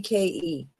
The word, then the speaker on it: Focke: These are the four keys for Frankly researching Frank and pronounced Fo C. Folky Folky.